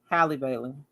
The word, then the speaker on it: Halle Bailey: Halle Bailey. That's her name. That's how you pronounce it.